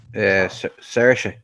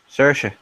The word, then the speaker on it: Saoirse: Or Saoirse. How do you say that? Saoirse.